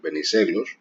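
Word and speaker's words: Βενιζέλος: In any case, his recommendation, his rule rather, was that these words that are stressed on the second syllable, like Venizelos, these surnames rather than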